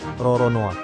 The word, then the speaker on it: Roronoa: tahun 1600-an frcoa lolone kalau diserap ke dalam bahasa Jepang pengucapannya itu jadi Roronoa Nah dari situlah tercipta